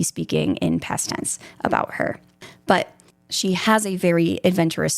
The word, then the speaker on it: Herb: Like it's spelled like Herb, you know, like herbs, but I feel like you pronounce the H in it.